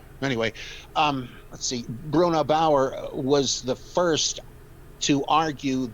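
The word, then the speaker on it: Bauer: What is your opinion of the works of Bruno uh Bayer I believe is his name. And he says in um I'm sorry. Could you spell the last name? B A R. Oh, Bruno Bower.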